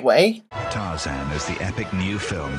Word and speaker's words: Tarzan: it ronley now at McDonald's there are eight Taran characters but then he pronounces it the right way Tarzan is the Epic new film from Disney why